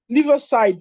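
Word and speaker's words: Liversidge: case of L side let me try and pronounce it well liver side Li side but the spelling is l i v e r s i d g e Li side against Anderson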